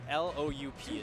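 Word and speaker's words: Loup: His name is Lou, like L-O-U-P. It's wolf in French. Lou, but the P is silent.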